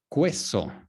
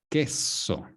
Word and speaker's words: queso: So, muchas veces ustedes dicen, many times, when there is a QU, cuando hay una QU, dicen Q, queso, pero eso es incorrecto. That is not correct. It's queso, cheese, queso, not queso.